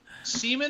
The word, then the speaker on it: CMON: and it's not entertainment it's pronounced semen yes seaman and asmody entertainment are